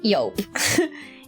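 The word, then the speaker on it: Joop: I don't know if the Germans pronounce it like this as well, but in Dutch you would say yope.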